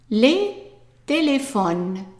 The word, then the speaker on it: téléphones: Les téléphones. And remember, we're not pronouncing the S at the end. The S of plural is silent.